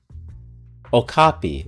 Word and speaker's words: Okapi: So it's an Opcoply? I butchered that name.